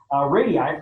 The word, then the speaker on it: radii: to figure out approximate radiuses or radii that's the right way to say radii for these different levels